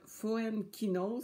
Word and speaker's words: Foenkinos: Autre petite suggestion, David Foenkinos, ça s'écrit Foenkinos.